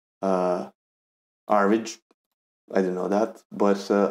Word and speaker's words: Airmed: it me want to play more and uh average is um yeah that's how it's pronounced uh average I didn't know that but I learned something